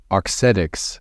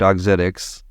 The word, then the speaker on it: Auxetics: going to be telling the origin story of otics did I pronounce that correctly Ramsey that's correct otics otic autic so auxetics is a mettech company